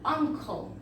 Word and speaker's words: uncle: Then we have an uncle. ¿Ven lo que les decía? Tenemos an, esta palabra uncle inicia con U, pero no se pronuncia como U, sino que se pronuncia como on, ¿sí?